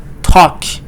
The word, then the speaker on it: talk: L is silent. Talk. Walk. Talk. Walk.